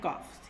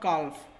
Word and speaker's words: calf: बच्चों यहाँ पे L जो है वो साइलेंट होता है, तो इसीलिए ल की आवाज़ नहीं, ल का साउंड जो है वो नहीं आएगा. इसे हम काफ ही बोलते हैं, नॉट काल्फ. काफ.